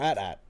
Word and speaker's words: AT-AT: Is it pronounced AT-AT or AT or at-at?